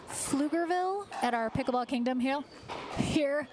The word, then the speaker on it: Pflugerville: Flugerville. Flugerville at our pickleball kingdom here just outside of Austin.